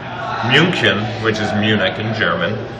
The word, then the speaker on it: München: So a word like München, which is Munich in German, is actually M-U with an umlaut, N-C-H-E-N. But you pronounce it as if it's M-U-E-N-C-H-E-N.